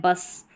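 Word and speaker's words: bus: Letter short sound vowel, लेकिन यहाँ पर हम पढ़ रहे हैं बस, स प्रोनाउंस कर रहे हैं, ज नहीं प्रोनाउंस कर रहे।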